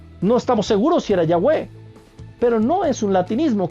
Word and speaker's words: Yahweh: Tienes que decir Yahweh. Con todo respeto. Y seguramente recibiré muchas críticas por esto. Pero es una convicción absoluta que tengo. Seguramente Jehová no es como se pronunciaba el nombre de Dios.